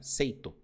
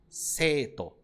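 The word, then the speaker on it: 生徒: ao ler isso daqui as pessoas falariam seito né seito mas não é assim a pronúncia é cito seito Então você tem que prolongar esse e porque tem o i aqui analisando a escrita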